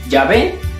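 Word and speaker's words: Yahvé: cristianos se dieron cuenta que jehová era un error como resultado del desconocimiento de la auténtica pronunciación del nombre personal de dios ya ve por poner en desuso la palabra jehová y retomar lo más correcto que es sabe en la actualidad tanto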